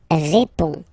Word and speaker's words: réponds: Je réponds. Je réponds. Okay, so you can see that D and S here are not pronounced.